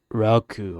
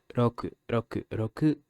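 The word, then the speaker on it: ろく: The little one's name is Hachi, and the one who used to be fat is Roku. It's not Roku, okay? It's Roku, as you heard in the pronunciation.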